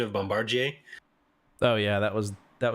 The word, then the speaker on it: Bombardier: I'm glad they went with the the proper pronunciation of Bombardier oh yeah that was that was really nice